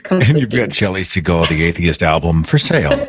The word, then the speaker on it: Segal: Is it Segal or Segal? It's Segal.